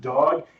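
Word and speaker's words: dawg: I think it's just dog. It is just dog. So, there we go. Okay. I'm glad we got to the bottom. I kind of remember talking about that. Yes. Well, it's spelled D A WG, you know, like dog.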